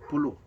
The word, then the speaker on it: pulo: In Tagalog, pulo.